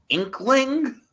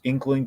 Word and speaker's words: Inqueling: I'm wrong about that is that the pronunciation inkling uh yeah I've always been saying it wrong but that's that's the thing it should be I think you're right I think it is inkling but like growing up